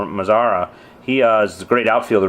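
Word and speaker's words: Mazara: Mazzara.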